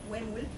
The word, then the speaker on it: Hammerle: So the Hammerle is pronounced Hammerle. The way I remember this is to say way. So takes some time getting used to.